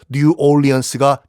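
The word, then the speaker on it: New Orleans: 뉴 오를레앙의 영어식 발음이 뉴 올리언스거든요. 그래서 뉴 올리언스가 탄생을 합니다.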